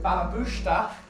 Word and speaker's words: Balabusta: So Balabusta, or if you say it properly, Balabusta, is a Yiddish term because I'm obviously a very proudly Jewish person, and that won't change me.